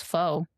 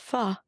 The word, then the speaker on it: pho: I thought it was pho. It's pronounced pho.